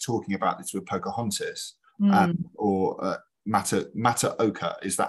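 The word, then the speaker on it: Matoaka: we were just talking about this with Pocahontas, Mataoka, is that how I pronounce it? Mataoka, thank you.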